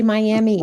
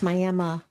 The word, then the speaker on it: Miami: And we can't say Miami. It's Miami. Miami. Miami. But it's spelled like Miami.